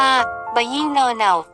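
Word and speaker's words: ဘုရင့်နောင်: ของ พระ เจ้า ตะเบงชะเวตี้ พระ นาม ของ พระ เจ้า บุเรงนอง ออก เสียง ตาม สำเนียง พม่า ว่า ยี้น เน่า มี ความ หมาย ว่า พระ เชษฐาธิราช และ มี พระ นาม เต็ม ว่า ยี้น เน่า จ่อ ถิ่นน ยถา ไทย เรียก เพี้ยน เป็น บุเรงนอง กยอ ดิน นอน ทา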